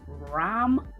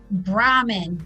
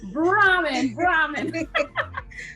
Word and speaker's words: Brahman: Her name is Connie Lopez, and it's Bram Bodyworks, is it? Brahman, Brahman. That's why I told me to spell it, because I know I want to remember it. That's it. Brahman.